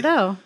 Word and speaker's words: Sardo: if I say Sardo. no, Mister, accent on the dough.